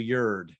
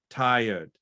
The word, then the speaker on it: tired: Tired. So think like the same vowel you'd use for could, would, should. Tired.